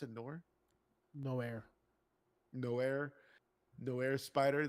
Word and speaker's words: Noir: which was fucking great movie, and his character, which was the Nor is that how you pronounce it, Nor? No air. Noir, Noir Spider, like it fits his character.